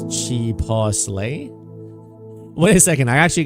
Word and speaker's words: chipotle: Brandon, you call it chipiddle? The kids. Like button is pumping. There you go, Louis. When you first came to US, you asked a friend how to pronounce it. He says chipotle.